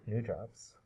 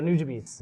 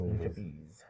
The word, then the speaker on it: Nujabes: because he definitely deserves to be mentioned, but New Jobs. Oh, Nujabes. Nujabes.